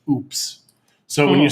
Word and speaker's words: UPS: use ups in mexico ups in mexico i am not kidding you is pronounced oops so when you say